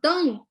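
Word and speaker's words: 邓: So Deng in Pinyin is the fourth tone.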